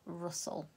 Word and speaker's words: rustle: the spelling rule is that there's a silent e after it, and it's definitely the case in this word, rustle.